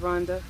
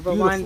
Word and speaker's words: Rwanda: here in the beautiful country of Rhonda or Rwanda as the Americans say and we are privy